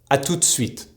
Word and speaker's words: à tout de suite: For example, à tout de suite, pronounced orally, à tout de suite.